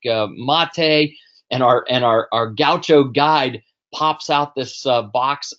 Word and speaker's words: gaucho: like a.j so parrisha is is how you'd pronounce it but Gaucho just for those of you who did do kyocho Gaucho is a cowboy so close but no cigar